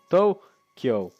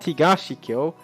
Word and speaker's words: Tokyo: The word must be read with the Tokyo reading. East capital. Tokyo. Not Higashi Kyo. Tokyo.